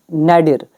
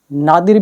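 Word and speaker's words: nadir: अब ये जो वर्ड है ना नैडिर, इसकी प्रोनाउंसिएशन है ना नै भी निकलती है, नै डी र, इसकी प्रोनाउंसिएशन नैडर भी निकलती है, नादिर भी कई लोग इसको बोलते हैं, तो अलग अलग बोलते हैं सभी, ठीक है, एग्जैक्ट नहीं मिलती है कहीं भी।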